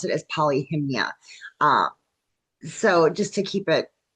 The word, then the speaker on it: Polyhymnia: I'm going to pronounce it as Polyhymnia.